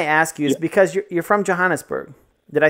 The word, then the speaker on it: Johannesburg: the reason I ask you because you're from Johannesburg did I say that right how do you say it that's correct yeah yeah Janice Berg that's that's correct that's where I was we